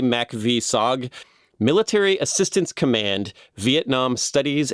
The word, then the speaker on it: MACV-SOG: I don't know if there's a way to pronounce this acronym. Give it a try. Yeah, I'm going to try. I would say MACV-SOG.